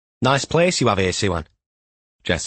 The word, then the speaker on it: Siwan: Jess had quizzed Gil about the correct pronunciation of her name on the way across from HQ. "Suan," he'd explained. "As always, Mom, every letter is enunciated in Welsh."